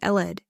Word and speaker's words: led: The past tense of lead is pronounced eled, but it's spelled L-E-D.